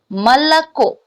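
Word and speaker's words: молоко: Okay, so Malako. What we are going to pronounce like ma, and here o is unstressed. So a, ma or a. Then it will la.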